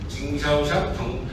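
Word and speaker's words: 经销商: 징샤오샹 한국 발음으로 하면 경소상, 중국 발음으로 하면 징샤오샹이라고 하는데 이렇게 됩니다.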